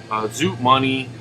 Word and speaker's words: Zoot Money: his wife, Mike Paddo, Zoot Money, that's how you say it, Mooney Money, and yeah, Keith Tippett, of course.